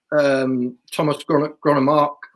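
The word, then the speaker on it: Thomas Grønnemark: In that, I just think, and it's not just, as I say, there's another chapter about Thomas Gronemark. That's how you pronounce it.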